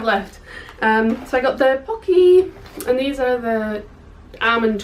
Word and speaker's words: Pocky: So I got the Pocky, and these are the Almond Crush ones. Apparently, according to someone watching the Tim Tracker, we've all been saying it wrong. And it's Poke.